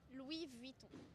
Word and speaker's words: Louis Vuitton: Could you show me how to pronounce Chanel and Louis Vuitton? Chanel, Louis Vuitton.